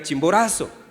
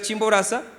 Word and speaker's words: Chimborazo: Que le gusta ir al Chimborazo. A mí gustar ir a la Chimboraza, ¿está bien pronunciado o no?